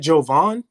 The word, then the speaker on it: Jovaan: Just is it Jovaan? Jovaan? Jovaan. Yeah, you said it right.